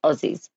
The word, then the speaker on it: Aussies: I'd go Aussies yeah it's pronounced with a z I guess Aussies Aussie oie Aussie o